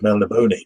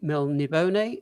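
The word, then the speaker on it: Melniboné: You say Melnibone or Melnibone? I used to say Melnibone. Now I say Melnibone. I've always said Melnibone. Oh, typical Texan exceptionalism. Actually, it's Melnibone. I think it's the Spanish pronunciation.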